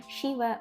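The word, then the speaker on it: siwe: шіве восшіве вос так звертайте увагу на вимову при е в слові шіве шіве так маємо не сі а ші шіве воси Ну і якщо хочемо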